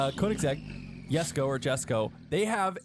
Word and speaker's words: Koenigsegg: Koenigsegg. Good job. They do pretty good. I think Koenigsegg. Correct me if I'm wrong. Koenigsegg.